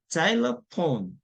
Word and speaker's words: xylophone: 그래서 그다음에 xylophone, XY가 xylophone가 보시면 Y가 지금 I로 발음이 나죠. 그렇죠? 여기 보시면 지금 X 다음에 모음이 없잖아요. 네. 그렇죠. 한국말은 근데 자일러로 되지 않습니까? 자일러로 되잖아요. 자이로 된단 말이에요. 그게 뭐냐면 Y가 지금 AI 발음이 난 거예요.